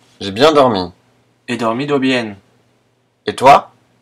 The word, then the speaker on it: bien: B et V se prononcent de la même façon, l'espagnol ne faisant pratiquement pas de différence entre ces deux lettres.